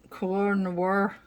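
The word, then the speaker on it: Koh-i-Noor: of combined with a review of the the core noir pencils and i probably butchered that name it's k o h i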